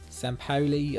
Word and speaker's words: Sampaoli: one three three what's that kind of a sampaoli um i'll be also kind of tactic sam